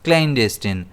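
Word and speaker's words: clandestine: इसे हम प्रोनाउंस करते हैं क्लन डेस्टिन। इसमें स्ट्रेस डीपर रहता है।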